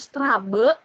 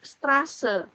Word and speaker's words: Straße: Jadi Gartenstraße ini beta dibacanya S, bukan Strabe tapi Straße.